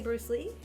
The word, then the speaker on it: Bruce Le: oh it's Bruce Lee it's spelled l e but it is technically Bruce Le and when he popped